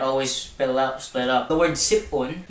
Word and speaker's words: sip-on: The word sipon, now you don't read this as sipon. We read it as sip-on. So there's that dash there to indicate that it's supposed to be separated to a different syllable.